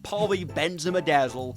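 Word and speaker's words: polybenzimidazole: Polyphenol sulfide and the most advanced plastic we have access to, poly benzimmaadazzle. And yes, it really is pronounced like that.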